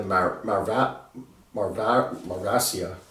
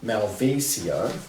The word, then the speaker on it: Malvasia: and the uh the marv marasia i always get the pronunciations wrong on these things malvasia there you have it the malfacia is